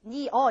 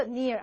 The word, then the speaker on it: near: 가까운 near near 자 near 같은 경우도 니어 이거 아니죠 near 한 박자 one syllable nearest 그런데 가장 가까운